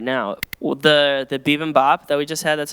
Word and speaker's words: bibimbap: Well, the bibimbap that we just had, that's how you say it.